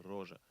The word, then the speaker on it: Roger: У французов есть имя, которое тоже пишется Роджер, но произносится Рожа.